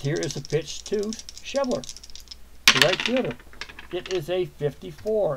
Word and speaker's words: Schebler: control F H the schebler it's pronounced schebler okay for any of